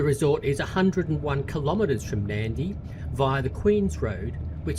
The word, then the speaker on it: Nadi: We landed at Nadi, which is interestingly spelled N A D I, but is pronounced Nadi.